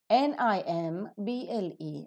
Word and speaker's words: nimble: position a few more examples practicing as foreign n-i-m-b-l-e number nimble now here after more burst sound is pronounced because Nim becomes one syllable bull becomes